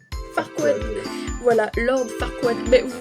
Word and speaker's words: Farquaad: Lui, comment ça se prononce? Farquaad.